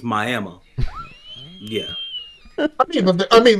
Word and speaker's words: Miami: and it's called Miami even though it's spelled like Miami it's my ammo yeah I mean like